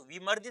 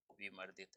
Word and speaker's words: विमर्दित: एक बात और मैं बता दूं, ये जो रे होता है ना, ये जिसके ऊपर लगा होता है ना, उससे पहले इसका उच्चारण होता है, ध्यान रखना, ये भी आप लोगों को पता होना चाहिए।